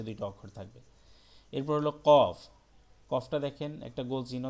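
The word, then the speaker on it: ق: অক্ষর থাকবে, এটা হলো কফ। শেষের কফ, শুরুর কফ, আরেকটা হলো মাঝের কফ, কফটা একদম গলার ভিতর থেকে একটু ধাক্কা দিয়ে উচ্চারণ করতে হবে, কফ, এটা কফ।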